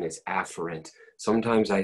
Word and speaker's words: afferent: write that word if you hear me say a ferrant the correct pronunciation is afferent sometimes I say a Farren's because then when